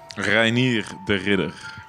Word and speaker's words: Reiner De Ridder: Give me the proper pronunciation of your name. Reiner De Ridder.